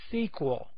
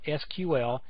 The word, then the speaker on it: SQL: see right here is SQL as if it was spelled out s qu L this has to do with the history of it you will hear people call it SQL and it's not that's